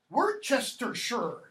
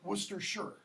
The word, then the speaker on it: Worcestershire: Worcestershire, if you want to pronounce it American. Don't. Worcester is how that's pronounced. Or Worcestershire.